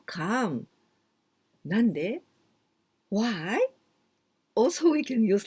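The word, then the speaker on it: 何で: Nan de. Do you remember nan or nani? That means what? But here with de, we pronounce nan.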